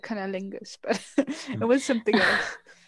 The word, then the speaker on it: Cuniculus: Cuniculus.